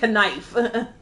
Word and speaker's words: knife: Don't give me knife. I know we spell knife, we pronounce the N, but we don't pronounce the K.